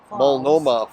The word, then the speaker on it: Multnomah: hike to mulnoma it's m u l t n o m h silent h multnomah falls but i'm pretty